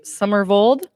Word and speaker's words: Summervold: Summervold, saying it correctly, stage.